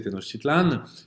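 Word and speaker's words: Tenochtitlan: m'avoir donné des cours pour me rappeler comment prononcer tenositlan qui est la capitale aèque évidemment très peuplé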